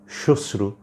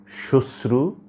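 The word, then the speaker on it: শ্মশ্রু: হচ্ছে না উচ্চারণ হচ্ছে শশ্রু কোন অবস্থাতেই ম আসছে না কাজেই বিষয়টা একটু খেয়াল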